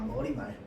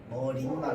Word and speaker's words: 머리말: 머리말 머린말 아닙니다. 발음이 표준 발음이 자 그래서 얘는 머릿 말 틀렸어요. 머리이 말입니다. 머리 틀렸어. 얘는 사이소리 현상 안 일어나요.